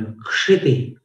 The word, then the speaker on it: क्षिति: क्षिति क और श षटकोण वाला, इनको मिलाने से क्ष बनता है, और क्ष का उच्चारण छ जैसा नहीं करना।